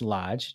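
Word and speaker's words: Loge: The next one, the Lodge Hotel, which is spelled L-O-G-E, but pronounced Lodge, just so you know.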